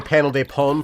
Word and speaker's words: Panel de Pon: Do you know Japanese pronunciation well enough to know that this game is pronounced Panel de Pone, not Panel de Pon? Okay, that would be an A if you wrote it out in English. It's not Panel de Pon, it's Panel de Pone, okay?